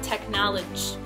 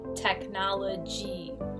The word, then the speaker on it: technology: of the word technology what I often hear Mandarin speakers say is technology so I will write it out for them and I will write it phonetically and I will say it sounds like G like the letter G even though there's a Y you want to make it sound like G technology and then the